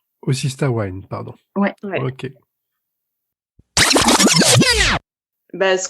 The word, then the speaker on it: Osystah Wyne: Bon alors, du coup, je dis Azel et Marie, Osista Win, c'est ça? C'est comme ça Osista qu'on Wine. prononce? Osista Wine, pardon.